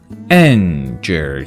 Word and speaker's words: danger: Danger. Danger. E after G makes that G sounds soft G. J. No longer G. So, danger.